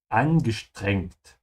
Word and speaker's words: angestrengt: Hey, angestrengt. Strained. It comes from the verb anstrengen. Angestrengt. Remember that whenever an S comes before a T, it's pronounced like a sh sound.